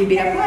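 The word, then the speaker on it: Ibirapuera: Un immense parc de la ville Il s'appelle Iberapuera, je sais pas , je le prononce correctement ? Oui ! Iiberapuera !Comment tu le prononces toi ?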